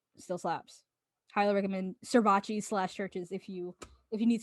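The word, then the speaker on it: CHVRCHES: busted moving on churches churches spelled with a v instead of a u i think they're from glasgow so i think they're scottish i think that's scottish i might be completely wrong honestly hold up anyway they're foreigners and churches my brother used to call them servaces because of the way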